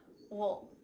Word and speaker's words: we'll: I didn't say we'll go. I just said the first letter, W, plus U-L-L, wool, wool.